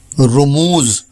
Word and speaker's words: رموز: جمع ہے رمز کی۔ آج کا لفظ ہے رموز، جو درست ہے چونکہ یہ لفظ رمز کی جمع ہے، اس لیے عموماً لوگ اسے بالفتح یعنی رموز بولتے ہیں، جو درست